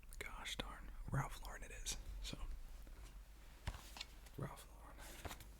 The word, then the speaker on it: Ralph Lauren: not Ralph Lauren, it's Ralph Lauren, and Ralph Lauren is the correct French pronunciation of it, but he's not French, he's American, and even he pronounces his name Ralph Lauren, so I'm like, gosh darn, Ralph Lauren it is.